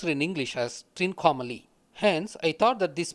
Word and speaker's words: Trincomalee: Shiva with a triangle is Trikonamalai, which is pronounced in English as Trincomalee.